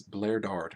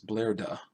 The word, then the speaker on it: Laiard: to fight blard blard I keep pronouncing this blard but there's no r at the end it's blaira all right well this guy's